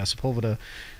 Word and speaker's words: Sepulveda: Sepulveda? How you say it? Yeah, Sepulveda.